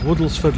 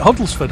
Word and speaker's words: Woodlesford: we've just come through woodlesford lock oh you said it right at last I I was calling it huddlesford I don't know why beautiful lock beautiful um